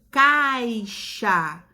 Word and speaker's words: caixa: Som de CH. Olha lá o exemplo, ó. Peixe, caixa. Novamente, a palavra escrita com X, mas quando a gente pronuncia, a gente percebe uma pequena mudança no som, o som do CH.